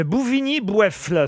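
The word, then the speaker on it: Bouvigny-Boyeffle: Une question pour Lilian Bertha qui habite Bouvigny-Boueffle, c'est dans le Pas-de-Calais. Bouvigny-Boueffle. Oui, c'est son nom, c'est le nom du village. Bouvigny-Boueffle, ça s'écrit Boyeffle.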